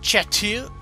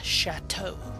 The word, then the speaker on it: Chateau: talk to my girlfriend the black chat too is not like I thought it was uh We're Not Gonna exit to the episode menu but it's actually pronounced chateau which I would have never figured that out ever my girlfriend told me how it's actually pronounced black chateau which I had no